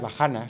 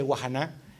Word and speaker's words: Vahana: titula wahana o wahana es difícil de pronunciar bahana si lo pronunciamos en en castellano hemos llamado un amigo experto para que nos diga exactamente Cómo se pronuncia para no meter la pata ya que se iba a grabar me han dicho Eh Así que guajan es el título del libro significa lo cuenta